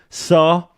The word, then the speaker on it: Sarr: Sarr. It only rhymes with VAR, but it's much more effective.